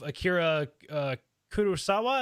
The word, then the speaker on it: Akira Kurosawa: life, and you've specifically mentioned the work of Akira Kurosawa. Is that how you say that? I want to make sure I'm pronouncing it correct.